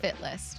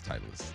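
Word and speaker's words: Titleist: It's not Fitlist. It's not. It's Titlist.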